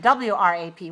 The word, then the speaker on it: wrap: which letter is silent when we see WR the W is silent for example we use